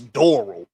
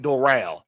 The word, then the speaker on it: Doral: Out of Doral, Florida, or Doral, Florida, because I heard one of the Floridians pronounce it Doral. Florida, y'all some idiots. It's Doral. It's Doral. Stop pronouncing it Doral.